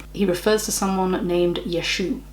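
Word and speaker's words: ישו: refers to someone named yeshu yeshu is how jesus's name is pronounced in hebrew or yeshua yeshua what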